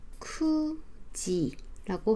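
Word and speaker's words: 九時: 9시는 큐라는 발음이 있었는데 시간을 말할 때는 쿠지라고 하는 이 아이도 조심해야 되는 발음이에요.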